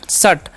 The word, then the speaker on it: shut: और यू का उच्चारण यहाँ पर ऊ नहीं करना है, क्या करना है? इसलिए क्या पढ़ेंगे हम? शट, ठीक है।